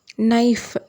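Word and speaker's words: knife: k யோட sound வந்து சைலெண்ட்ல போயிடும் for example நைஃப் கே என் ஐ எப் இ அப்படின்னு இருக்கு கே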